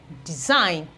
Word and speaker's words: design: not any form of G sound in the pronunciation align assign okay we have consign Consignment consign we have design we have for foreign we still have rain